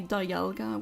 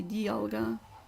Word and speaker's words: Dialga: but then again thega the D part comes from Diamond but yet we don't say dalga we say Dialga it's also pretty inconsistent